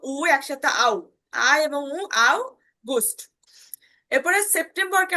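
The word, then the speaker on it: September: আও এবং বুস্ট এর সেপ্টেম্বরকে আমরা বলব দুইভাবে উচ্চারণটা শুনবেন সেপ্টেমবা সেপ্টেমবা ঠিক আছে সেপ্টেমবা শুরুতে এস আছে বর্গীয় জার মত উচ্চারণ হবে সেপ্টেমবাসের পর ভাল থাকার কারণে বর্গীয় জর মত উচ্চারণ হচ্ছে নাকি?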